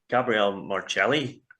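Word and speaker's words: Gabriele Marelli: of that is um that Gabrielle marelli which is the correct pronunciation yeah so we all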